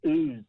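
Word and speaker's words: Ouse: great and in the it's pronounced ooze the uh ooze valley the uzbein valley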